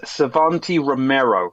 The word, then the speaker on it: Savanti Romero: How do you pronounce his name, Tanner? So it's Savanti Romero. Savanti Romero. Am I saying that right? Savanti Romero.